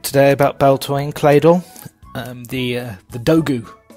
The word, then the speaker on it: Claydol: quite literally comes from clay doll but it also rhymes with dreidel a type of spinning